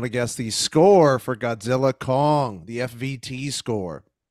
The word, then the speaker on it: Godzilla x Kong: Andrew Martin on Facebook saw Godzilla Kong. That's how I've been told to say it. It's not Godzilla X Kong. You ignore the X.